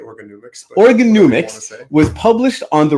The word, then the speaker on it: Organomics: In 2019, his first book, Organomics, how do you pronounce it? I say it Organomics.